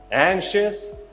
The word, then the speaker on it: anxious: anxious, anxious. برای اینکه خوب تلفظش کنی ته زبونتو بچسبون به سقف دهنت. anxious, anxious. یا حتی اگه میخوای راحت ترش کنی یه صدای کم میتونی بذاری.